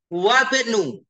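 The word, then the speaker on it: وابن: Wabnu. Wabnu. Jadi hamzahnya tidak dibaca. Wabnu.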